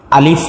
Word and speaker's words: আলিফ: حরফর নাম হলো আলিফ আলিফ উচ্চারণ করতে নিচের ঠোঁটের ফ্যাট উপরের দাঁতের সংজ্ঞা লাগবে সামনের উপরের দাঁতগুলো সব লাগবে হ্যাঁ আলিফ উচ্চারণ করার ক্ষেত্রে আলিফ আর আলিফ এর মধ্যে কোন টান নাই যত দ্রুত সম্ভব আলিফ